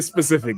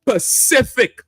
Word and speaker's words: Pacific: I I had to I had to tell myself don't don't say specific ma don't say specific the Pac I almost wanted to do it the Pacific Ocean we say specific ocean right some old say